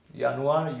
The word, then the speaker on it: Januar: Yanuar, uni, yuli. So this is how J is pronounced as Y.